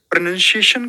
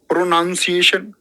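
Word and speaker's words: pronunciation: प्रोनंसिएशन कैसा होगा? तुम बोल रहे हो प्रोनाउंसिएशन। प्रोनाउंसिएशन गलत उच्चारण है।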